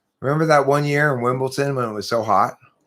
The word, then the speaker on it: Wimbledon: Are you saying it with a T? It's with a D. Wimbledon. Wimbledon. Yeah, but okay, yeah. Who pronounces it like that? Nobody pronounces it Wimbledon. Everyone in England does.